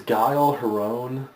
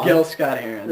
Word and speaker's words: Gil Scott-Heron: I believe it's pronounced Gil. I think it's Guile Heron. No, it features Gil Scott-Heron, and who's really kind of gotten a second wind with his career.